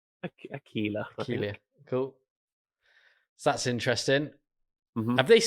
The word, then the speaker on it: Aquila: Aquilia? Aquila.